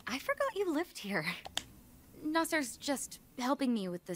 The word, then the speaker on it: Naser: because we are gone oh it's Naser I've been pronouncing this dude's name wrong for like one and a half games cin Amal if you